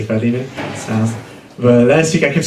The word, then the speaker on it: Philemon: And Pastor Dave pointed out to me, last week, sometimes I pronounce things wrong, like Philemon. Usually I'd pronounce it Philemon, but last week I corrected myself and I would say Philemon.